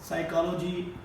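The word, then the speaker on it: psychology: प will रिमन silent जब भी प के बाद एस आएगा तो हमने एक बात जहन में रखनी है कि प जो है वो क्या होगा साइलेंट होगा इसम बहुत सारे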